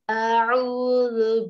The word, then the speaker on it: أَعُوذُ: We pronounce zu. Zu. Qul a'udhu bi rabbil falaq.